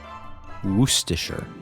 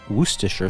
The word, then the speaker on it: Worcestershire: It can be a challenge to pronounce correctly. The trick is to emphasize the first syllable and to blend the last syllables together.